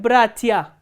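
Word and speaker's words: братья: For example, look at the word bratia. Here stress is on the first syllable, not on the ending.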